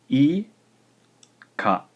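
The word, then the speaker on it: イカ: The word is 2 syllables and is pronounced I, ka.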